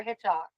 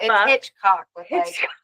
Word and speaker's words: Hitchcock: ] pronouncing his name I wasn't sure if you were saying Hitchcock or hitch hok I I was saying hitch HW what the Hitchcock I dude please correct me